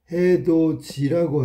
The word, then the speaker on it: 해돋이: 해돋이라고 쓰고 발음은 해돋이라고 하지. 자, 여기의 양상은 디귿이 형식 형태소 이하고 만나서 지읒으로 바뀌었네. 이렇게 바뀐 거야.